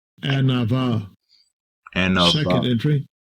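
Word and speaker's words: ענוה: Set the pronunciation. Strong's H 6038. Anava. Anava. Anava. Second entry. Anva.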